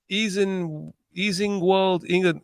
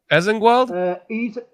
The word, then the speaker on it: Easingwold: Chicagoan in Easingwold, England. Whoa! Wait, how do you say that, Chris? Easingwold? What's that? Easingwold?